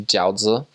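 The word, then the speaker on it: 饺子: So something that the Chinese members prepared for us often were probably jiaozi. That's how you say it in Chinese.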